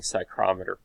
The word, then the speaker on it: psychrometer: tool called the Sling Psychrometer. It's kind of a funny name, psychrometer. It has the silent P in it, like psychiatry or psychology.